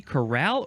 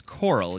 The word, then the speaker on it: coral: Now I guess would it be corral or coral? It seems like it's coral. Yes, Yeah. it's coral because it is spelled C-O-R-A-L.